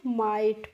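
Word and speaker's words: might: अब है देखिए एम आई जी एस टी तो इसको बच्चों हम माइट पढ़ते हैं।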